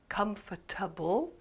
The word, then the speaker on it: comfortable: one syllable is stressed for example in the word comfortable comfortable the first syllable is stressed and the rest is comfortable comfortable and if you